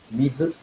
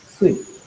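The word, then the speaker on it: 水: Water in Japanese sounds pronounced or reads as mizu, mizu, yes. Or sui. Two ways of pronunciation.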